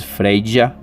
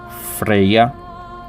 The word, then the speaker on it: Freyja: Também são aceitas as pronúncias Freyja, Freya, Vanadis, Vanabordir, Horn, Sir e até mesmo Gethen.